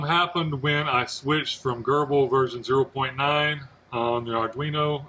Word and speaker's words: Grbl: And it is pronounced Grbl, by the way, and not Gerbl. It was originally pronounced Grbl by the guy who created this, but then the guy who took it over has officially said he calls it Grbl.